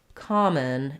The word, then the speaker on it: common: on as well so we have the schah in the word come so you're going to say come and then a vowel in the second syllable so common and come on um yeah great um great observation different vowel sounds um different syllable stress in those two um we have a